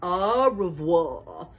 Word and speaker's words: au revoir: my fans are wrong how do you say it like this au revoir that's French for good bye on my door